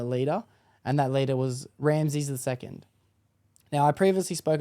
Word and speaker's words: Ramses: And this week I'll be talking about that son, and that's Ramses II. I'd like to say that I do believe I did say his name wrong in the past. I think I said Rameses, but that's just because